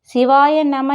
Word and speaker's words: சிவாய நம: சிவாய நம என்பதை சிவய நம என்றே உச்சரிக்க வேண்டும்.